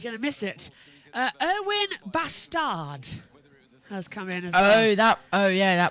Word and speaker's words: Bastard: a swear word but it's the way you pronounce it in French do you know what